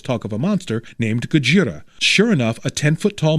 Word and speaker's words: Gojira: Warning, I'm not going to mispronounce it Godzilla and pronounce it Gojira.